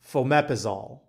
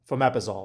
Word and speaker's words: fomepizole: antidote is, I'm going to butcher how to pronounce this thing, but it's fomepizole. Fomepizole. And I'm going to put it on the screen because it's, you know, a weird word, but fomepizole, F-O-M-E-P-I-Z-O-L, fomepizole.